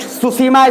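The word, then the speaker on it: Tsushima: Next सुसीमा straight, ये मिल जाना चाहिए। TSU, टी से शुरू है, टी से, टी साइलेंट है इसमें, स्पेलिंग यहां देख लो।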